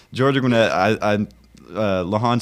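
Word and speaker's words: Georgia Gwinnett: Sorry, I had to think about that because I was going to pronounce it wrong, so I had Yeah, it's a, you know, it's Georgia Gwynette.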